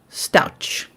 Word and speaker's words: Stauch: You want me to say it like ouch? Stauch.